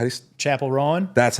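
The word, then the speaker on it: Chappell Roan: How do you, Chapel Rowan?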